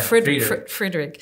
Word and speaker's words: Friedrich: Friedrich.